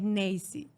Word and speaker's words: Neisy: Lo que pasa que aquí hay un problema, que la perfecta pronunciación es Neisy.